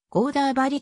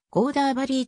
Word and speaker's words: గోదావరి: 形成している名称はテルグ号では表記の通りコーダー針と発音されるタミル語においても同様である一方北インド系のサンスクリット語ヒンディー語やマラーティー語などではコーダーバリーと小松が超音